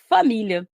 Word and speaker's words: família: que eu tenho para família. Família, mesma coisa. Quem é a minha sílaba tônica aqui? É a sílaba mi, que é uma paroxítona. E é uma paroxítona terminada em A.